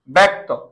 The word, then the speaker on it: ব্যক্তি: হবে দীর্ঘকারটা রস্বীকার ব্যক্তি জফলার পরে রস্বীকার আছে তাহলে কি হবে ব্যক্তি উচ্চারণ হয়ে যাবে কি